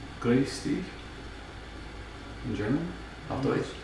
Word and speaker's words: Grüß: Okay, so now Minnie is saying it's Groose. Huh. Like as in... No, but in German it's Grüß.